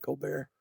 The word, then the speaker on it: Colbert: I think she's Colbert, but Steven Colbear is, you know, spelled the same, but he calls it Co Bear.